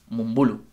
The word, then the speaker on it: Mumbulu: La gente lo pronuncia mal, es Mumbulu.